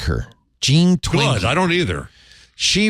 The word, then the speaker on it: Jean Twenge: How do you pronounce that? Oh, no. I didn't like her. Jean Twenge.